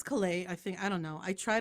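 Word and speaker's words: Caillat: This is Colby, I think it's Calais.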